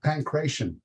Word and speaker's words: pankration: And so you can have the pankration or whatever, I'm not sure how it's pronounced.